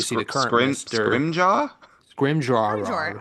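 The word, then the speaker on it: Scrimgeour: Scrimjar scrimjar scrimjar. I always say scrimjar because that's what they say in scrim books.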